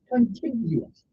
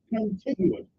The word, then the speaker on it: contiguous: i g u o u s it is pronounced continuous okay c o n p i g u o u s continuous what does that mean if I were to